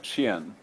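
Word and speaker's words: Qian: s i m a suen q i a n you've seen q and chin and Ching so that Q is a sound suan 100 BCE he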